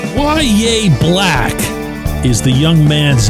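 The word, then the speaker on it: Yahya: Why Yea Black is the young man's name. First name is spelled Y A H Y A, but it's pronounced Yea.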